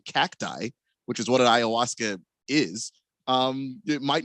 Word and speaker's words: ayahuasca: Ushka? Ayahuasca.